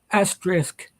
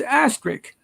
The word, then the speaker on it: asterisk: an asterisk is pronounced asterisk they just think it's asterisk well that's what i thought it was and everybody loses the s i'm like it's not